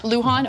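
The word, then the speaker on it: Luján: And is that how you say his name? I believe it's Lujan. Lujan, okay.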